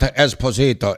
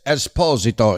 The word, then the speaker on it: Esposito: First of all, his name is not Esposito. It's Esposito. He's from Napoli, okay?